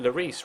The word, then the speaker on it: Lloris: I've always pronounced it Lloris rather than kind of like the double L, like Lli or like Illioris or something like that.